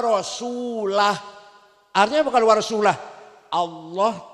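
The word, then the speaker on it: ورسوله: Salah. Salah. Bacanya harus Annallaha bari'um minal musyrikina wa rasulah.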